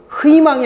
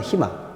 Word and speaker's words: 희망: 그 다음에 자음이 있는 경우 희망이 아니죠. 희망입니다. 희망. 그래서 이런 경우는 희라고 발음한다.